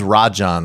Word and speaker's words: Rajan: his name yeah so I think Rajan but I could be I could be totally wrong Roger ha well no it is Rajan I don't know how